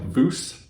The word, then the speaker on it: VUZ: The name is spelled VUZ, but I've read online that it's pronounced like VUZ, kind of like goose, but with a V.